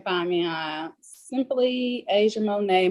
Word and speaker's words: Monae: On all social media websites, you can find me on simply Asia Monet. Monet spelled MONAE. Some people spell it MONET. But it's MONAE.